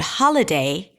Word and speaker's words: holiday: So in the word holiday, the primary stress falls on the first syllable. Ha ha holiday.